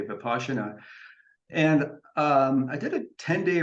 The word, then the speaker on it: Vipassana: So Zen is in the Mahayana school, and there's another meditation practice called Vipassana, spelled Vipassana, but pronounced in the Pali Vipassana.